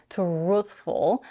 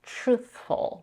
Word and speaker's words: truthful: Notice how in the word truthful, she doesn't say truthful. Usually when we have a TR combination, truthful. The sound more like a ch in the word choice. Truthful.